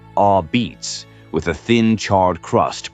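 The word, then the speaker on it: apizza: New Haven became known for a pizza pronounced locally as a beats with a thin charred crust produced in extremely hot ovens.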